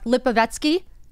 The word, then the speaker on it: Lipovetsky: name I don't want to say it wrong lipovetsky yes I did it right thank you very